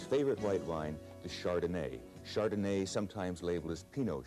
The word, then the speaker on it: Chardonnay: Chardonnay, sometimes labeled as Pinot Chardonnay. Probably the most often mispronounced names are French wine names.